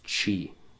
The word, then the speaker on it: chi: Christ in Greek actually starts with an X or the letter pronounced as chi, which is the same in Roman, actually.